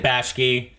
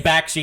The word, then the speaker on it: Bakshi: We're saying Bakshi and you're saying Bashki. I think it's Bakshi.